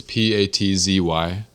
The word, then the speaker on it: Patzy: Okay, it's Patzy. It's like Patsy Cline, but with a Z.